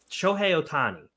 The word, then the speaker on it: Shohei Ohtani: so we're talking about jonte Porter and showy Sho Otani right that's how you say it show yeah